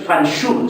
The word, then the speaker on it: Fanxul: En realidad Fanjul es un nombre de lugar, y en asturiano es Fanxul, escríbase con X, pronúnciase en X, Fanxul.